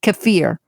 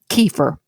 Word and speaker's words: kefir: daily consumption of fermented goat's milk, known as kefir, or as Americans say it, kefir.